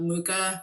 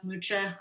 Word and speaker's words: Mucha: Um I also can uh say that I love Muka Mucha. I always I hear you pronounced his name Alons Mukcha.